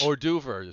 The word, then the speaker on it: hors d'oeuvre: So it'd be hors d'oeuvre. So you want to be classy. So I would say the hors d'oeuvres. The hors d'oeuvre. That's yeah. Yeah, exactly. Because nobody ever pronounces the H.